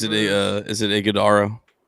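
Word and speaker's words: Ighodaro: Isaiah, is it a uh is it Idaro?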